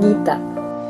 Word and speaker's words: Geeta: How would you pronounce Rams it? My name, Geeta.